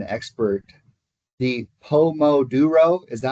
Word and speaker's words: Pomodoro: Kyle, you're the pronunciation expert. The Pomodoro, is that how you say that? I would say Pomodoro.